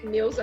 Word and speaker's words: Neusa: dizer assim, meu nome, faz conta que meu nome é N-E-L-S-A, Nelsa. Quer dizer, se eu substituir o U pelo L, dá certo. É o mais próximo e eu consigo ouvir o meu nome um pouquinho correto.